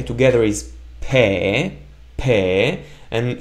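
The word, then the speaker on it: פה: together is pe, and how do we pronounce the hey? Correct trick question, we don't pronounce it because it's at the end of the word and it's just there as a space filler to not end the word with a vowel.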